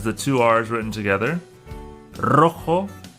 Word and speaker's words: rojo: Rojo and rosa start with the R, so they make the R sound. Carro, rojo, rosa.